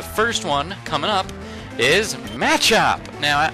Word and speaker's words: Machop: one coming up is matchup now I know some people call it Machop or something like that but I call it matchup so you can pronounce